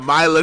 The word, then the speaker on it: Mila: Melina Kunis.